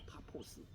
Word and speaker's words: 파포스: 제가 좀 설명을 드리겠습니다.이 그 구부로섬에 도착한 바울과 바나바는 그 구루섬을 가로질러서 우리 성경 바보라고 나는데요. 어감이 별로다. 그대로 영어를 이제 그냥 발음하게 파포스 파포스로 이제 갑니다.이 파포스는 당시에 성적 의식이 동반된 그 아프로디테 숭배로 아주 유명한 곳이었다고 해요.